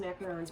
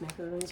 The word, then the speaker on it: macaron: And it's pronounced macarons. Macaroons are the little coconut cluster things.